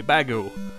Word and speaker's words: Bagu: of error uh yeah so it's not error which is the error in this part it's actually bagu you see when the